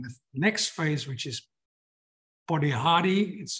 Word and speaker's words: Polihali: And this also showed in the next phase, which is Polihali, that's how they pronounce it in Lesotho. They pronounce sometimes the L's as a D. And so it's not Polihali, but Polihali in Lesotho.